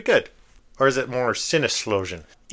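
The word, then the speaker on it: Sinneslöschen: Or is it more sinloan in Deutsland? That is pronounced with a zed. It's It's written with an S, but it's pronounced with a Z.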